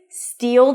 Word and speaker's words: steal: To pronounce this phrase, steal, that's a high E and a dark L.